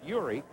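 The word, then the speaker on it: Jiří: And George Zdeck, his Czechoslovakian name is Yuri, pronounced Yuri.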